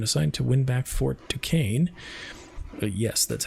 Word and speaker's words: Duquesne: He was given control of 2 regiments of regulars and assigned to win back Fort Duquesne. Yes, that's how you pronounce that.